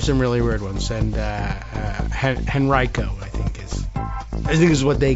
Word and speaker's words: Henrico: the county, including Richmond, the emphasis I understand is on the second syllable, but there's some dispute. I guess Henrico. Although I think the old timey natives say Henrico for some reason. Henrico. They just I don't know. This is old Southern pronunciations.